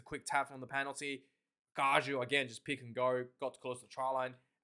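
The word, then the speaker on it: Gallo: Gajo, that's apparently how to pronounce his name, the loose step prop, has been tremendously well for Argentina.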